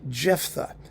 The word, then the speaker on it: Jephtha: How do you pronounce this? Jephtha. Yes, Jephtha.